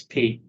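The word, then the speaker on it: π: It's P. P. Why do we pronounce it pi when we're doing math? Because English changes some things.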